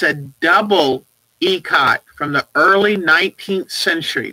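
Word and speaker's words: ikat: even though it's i-k-a-t that is pronounced ecot and it's an indonesian word it's an ancient ancient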